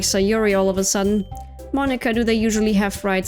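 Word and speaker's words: Monika: Monica. That's not how you say my name at all. Monica.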